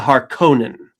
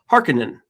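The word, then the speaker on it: Harkonnen: and he actually says in that narration the Haronan. Why did he say it like that when he himself said the name is pronounced Harkinin which is how they said it in the in the miniseries.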